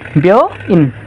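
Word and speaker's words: 病院: बेओ इन बेउ इन बेउ इन अब यसमा पनि उ चै साइलेन्ट नै हुन्छ। उ चाहिँ साइलेन्ट नै हुन्छ यहाँ निर मैले उ लेखे रहेछ। यो उ चाहिँ उच्चारण हुँदैन है।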